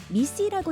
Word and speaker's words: MECE: MECE는 미시라고 읽습니다.